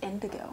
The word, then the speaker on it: Indoggo: it are you sh no it's indago it's pronounced indigo is it but it's got d-o-g-g-o okay all